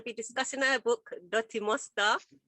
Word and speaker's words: Mustah: Yeah, just pronounce it with the Jamaican twang. Dutty Mustah, you know? Mustah.